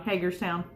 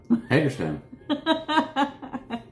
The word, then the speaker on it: Hagerstown: Hagerstown. Hagerstown.